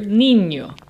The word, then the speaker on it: niño: Niño ends in an O, which makes it llana, which means the emphasis is on the second to last syllable. And since the emphasis really is on the second to last syllable, we don't need an accent mark.